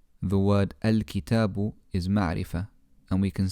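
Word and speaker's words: الكتاب: al-kitabu as an example when we start on the hamza al-wasal we pronounce the alif with a fatha al-kitab however if it had been in the middle of a sentence or preceded by another word then we wouldn't pronounce this alif if i wanted to say in the book the word for in is fee i would say phil kitab fil kitab in the last part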